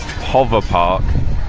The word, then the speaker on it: PowerPark: to get injured so apparently in finnish this is supposed to be pronounced hover park and when they have